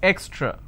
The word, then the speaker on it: extra: for your quick understanding it's eck straw it's extra now what mistake people do is they pronounce this as ake straw so this is